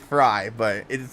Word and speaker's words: Fry: now in another league, and I've always pronounced it Frey. We have been told it's Fry, but I've always said Frey, and you were the first guy I've met that pronounces it right. It is Fry, but it just sounds weird to say.